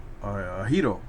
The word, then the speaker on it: gyro: Of course, I believe the Greeks call it a hero. Because the G is silent, and I think in Middle Eastern it's called the Euro or something like one or the other.